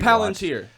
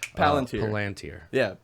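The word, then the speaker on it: palantír: Palantir. Palantir. Yeah. The L is where the emphasis is.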